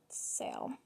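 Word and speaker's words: Seol: soul which is s-e-o-r i'm not sure if it's solar sail i think it might i think it's pronounced sail actually but it's s-e-o-l for the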